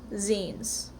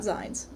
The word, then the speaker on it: zines: So, when I first heard about them, I called them zines, but they're short for magazines. It's pronounced zines, not zines.